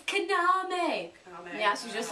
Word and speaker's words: Kaname: It's Kaname. Yeah, she's just like, no! Bam! Bam! I hate the pronunciations in that game.